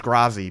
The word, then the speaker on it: Grazi: I'm looking for uh the official pronunciation is grazi because grazi comes from part of my real life name uh like it's part of my real name and that's how my name is pronounced like I can't change